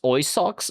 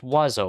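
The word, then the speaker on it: oiseau: I guess it it's pronounced oy socks. No, no, it's called wazo. It's pronounced wazo, which we could just we could just do that, right?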